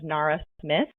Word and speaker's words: Nara Smith: And then the article talks about an influencer, I believe her name is Nara Smith, that's how she pronounces it, went viral sharing